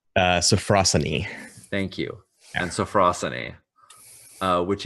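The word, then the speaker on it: sophrosyne: John do you know this is pronounced safrussani thank you and safrussani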